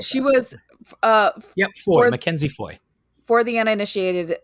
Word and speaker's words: Foy: Is it just Foy? I'm going to look that up. She was. Foy.